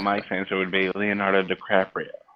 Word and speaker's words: DiCaprio: Leonardo DiCaprio. It's DiCaprio, and if you No. purposely mispronounce his name again, I will find where you live and I will hurt you.